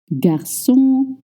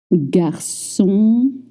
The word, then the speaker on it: garçon: You don't move your lips. It's just the back of your tongue. Let's try. O, O, Can you hear the difference? Now try. Good. O, O, You don't voice any N sound.